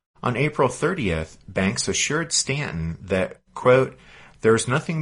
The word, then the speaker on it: Staunton: Stanton, and if you're looking on your map, it's spelled Staunton, but pronounced Stanton.